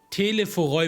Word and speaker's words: Telophoroi: Okay, Telephoroi wird es ausgesprochen.